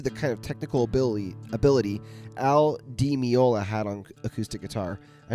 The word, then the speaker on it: Al Di Meola: Al Di Meola.